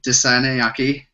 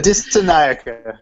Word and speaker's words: Dissanayaka: As always, my cohort David Desanayaki. He is with us. I always fuck his name up. I'm sorry, everyone. Dissanayaka. David Dissanayaka.